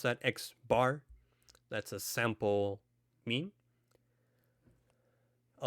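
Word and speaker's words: x̄: an x with the line on top we pronounce that x bar that's a sample mean a lowercase p with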